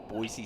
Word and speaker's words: Boise: the 84 third set lead on the B Boise state is how you say it I apologize